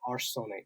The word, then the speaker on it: Arsonic: and is it pronounced I'm assuming it's arsonic but yeah it's arsenic yeah how did you